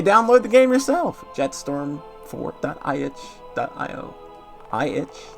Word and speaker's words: itch.io: iitch? That's how you say it? No, it's not iitch.